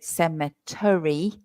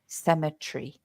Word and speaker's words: cemetery: me so the the the pronunciation there is a little bit odd sem tree so we don't say semet we say cemetry symetry three syllables uh although you don't